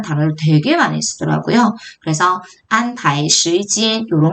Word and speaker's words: 安排: 그래서 발음이 안파이 이렇게 읽힙니다.